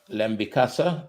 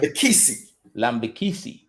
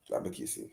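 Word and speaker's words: Lambikisa: Dexter Lambikasa at right back. Lambikisi. Is Lambikisi? Lambikisi. That's how it's pronounced.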